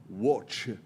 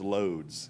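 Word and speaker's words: Łódź: up in is called watch it's I'm going to spell out pronounce it as loads l-o-d-z because that's the way it looks to us we don't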